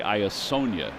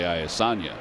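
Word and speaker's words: Iassogna: Yeah, so we can say Iasonia the right way, because we used to say Iasanya up high.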